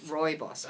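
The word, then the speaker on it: rooibos: is uh it's red Roy boss which is a South African how do you say that never Roy boss Roy boss you so you lose the first o basically basically yes Roy boss okay and it means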